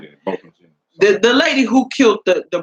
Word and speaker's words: Botham Jean: Botham Jean. Botham John. Yeah, Botham Jean.